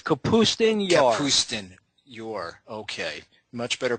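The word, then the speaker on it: Kapustin Yar: It's Capustun Yar. Capustun Yar. Okay. Much better pronunciation than what I just destroyed.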